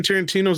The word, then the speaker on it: Tarantino: It's the other Quentin Tarantino. Oh, It's pronounced Tarantino.